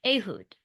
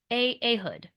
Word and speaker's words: Ehud: So that name is pronounced Ehud, Ehud. And that is not how I was going to say it.